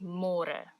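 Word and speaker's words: môre: to read more because in English it's spelled like more so don't say more say more and the older Generations Africans people they might say it a little bit differently and they sometimes say but it's more commonly used as Mora lacquer nice delicious the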